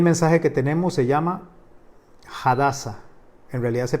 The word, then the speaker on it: Hadassah: canal hoy el mensaje que tenemos se llama hadassah en realidad se pronuncia así así es como se pronuncia bien